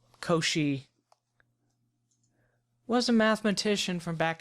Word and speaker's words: Cauchy: is okay so a sequence a n is Co she and it is pronounced Co she even though it looks like cow she it's Co she like Yoshi if and only